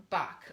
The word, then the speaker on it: Bach: us by someone named Dr. Edward Bach, or Edward Bach, sometimes his name is pronounced in Wales.